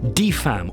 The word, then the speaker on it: DFAM: about pronouncing it how it's meant to be pronounced de femme or drama from another mother will ignore its